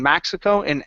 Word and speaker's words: Mexico: So when you're saying your short E, like end or Mexico, you're actually pronouncing an A sound, saying Mexico and.